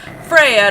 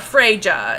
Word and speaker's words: Freya: for George it's not it's Freya not freyja it's it's come on